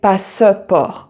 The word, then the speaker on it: passeport: And it's also silent when it comes in between a word. So like paiement, lentement, passeport. So you don't say passeport, but passeport.